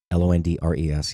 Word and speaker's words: Londres: Londres. Yes, that is actually how you say it.